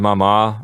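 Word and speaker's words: mamá: remind our listeners that the accents on the last syllable of Papa and Mama mm-hmm we don't want anyone out there to say Papa or mama because that's not the right way to pronounce it right yes now on the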